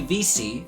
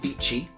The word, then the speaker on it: vici: Veni vidi vici is not how you pronounce that, but not everyone studied Latin, not everyone knows that it's vici is how it should be pronounced, but it is an expression.